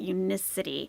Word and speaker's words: Unicity: with the Unicity I found out how to pronounce it Unicity feel great supplements feel great lose weight make